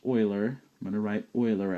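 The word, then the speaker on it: Euler: now two vocabulary words here Oiler and it's pronounced Oiler I'm going to write Oiler out over here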